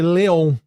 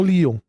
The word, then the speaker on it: Leon: Então, por exemplo, facilmente um dublador pode ler Leon, sim. E não Lon.